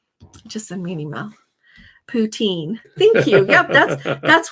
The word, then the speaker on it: poutine: me another um just send me an email poutine thank you yep that's that's what they said